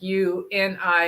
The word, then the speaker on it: UINI: Yes, yeah, it's spelled UINI, but it's really like you and I, as in other words, we're doing things together with other people.